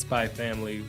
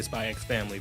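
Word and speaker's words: Spy × Family: And also you got Spy Family, who some say Spy X Family, but some say the X is silent.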